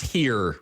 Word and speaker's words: Neere: It's Here with an H, and I have to tell people it's like John Deere tractors, which works great here in Western Pennsylvania.